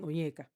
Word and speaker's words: Onyeka: commented on the video was literally me saying Onyeka, because I was just trying to say how people should pronounce Onyeka because it was killing me.